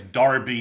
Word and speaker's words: Derby: is Maxwell Robinson from Derby, Kansas. Okay. Or I guess Darby, depending upon your uh your your preferred pronunciation of the of the town in England.